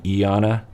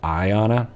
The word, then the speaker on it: Ayana: Ayana, by the way, in the videos I think I'm saying Iana, but because I could have swore I was really paying attention that someone, even herself, pronounced it Iana, but I'm pretty sure it's Ayana.